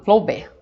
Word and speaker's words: Flaubert: A gente fala Flaubert, tá? A gente não pronuncia as últimas sílabas.